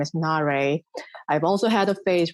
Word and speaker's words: Na-Rae: the screen card voices in Korean my name is pronounced at na day and I have had